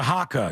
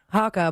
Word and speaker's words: haka: Hakka or Ma Maka? It's a haka. Yeah, haka.